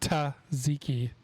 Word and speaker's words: tzatziki: tzatziki sauce is pronounced ta ziki you have to really exaggerate that t sound okay two more things